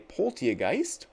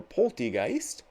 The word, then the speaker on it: Polteageist: There is a Polteageist, or Poltegeist, depending on how you'd like to pronounce that.